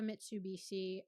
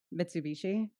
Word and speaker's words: Mitsubishi: We have a Mitsubishi.